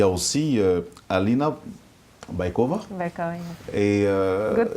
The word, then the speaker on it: Baikova: Baikova. Et Good pronunciation.